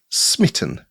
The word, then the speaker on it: Smitt I18N: So I have called my project Smitt I18N which is a bit of a mouthful but it's intended to be pronounced Smitten because it's for the love game engine.